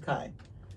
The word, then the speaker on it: Tokaji: hold on a toai what color would you Tokai is like the color is like this color Tokai or tokaji no it's Tokai my mom pronounces it I mean spelled tokaji but it's spel it's pronounced toai toai toai I got it it's very good